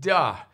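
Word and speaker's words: 德: worst pronunciation ever duh so de is pronounced duh but it means something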